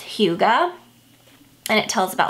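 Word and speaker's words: hygge: it's h y g g e and it's pronounced Huga and it tells about like where that came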